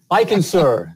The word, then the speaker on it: Eichenser: I can sir did I did I say it right okay